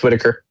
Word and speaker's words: Whitaker: It's Whitaker. Just like Mr. Whitaker.